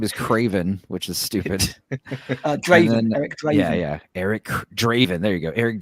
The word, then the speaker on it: Draven: Craven which is stupid Draven Eric Draven yeah yeah Eric Draven There You Go Eric Draven there you go it's like because it rhymes with Raven so I'm gonna call